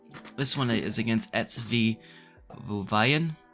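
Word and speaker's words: Wehen: So this one is against SV Wuvayan. It's spelled W-E-H-E-N.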